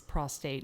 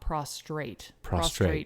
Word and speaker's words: prostate: i'm guilty of but prostate is prostate not prostrate it's more is the